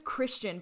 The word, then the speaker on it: Kristian: Yeah, I would have read that as Kristen as well. Isn't that annoying? His name is Christian, but it's spelt almost identically to Kristen.